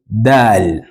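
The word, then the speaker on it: دال: have what we call Dal Dal as which is written just like this Dal uh the tip of your tongue still touches the roots of your upper teeth then we say with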